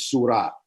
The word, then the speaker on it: surah: r i h sure which is a more of a persian uh pronunciation of it as opposed to the arabic in the arabic it's surah you know you know so it's sure and the guardian went